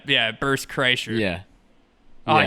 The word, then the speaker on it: Kreischer: Bert Krishna? Yeah, Bert Kreischer.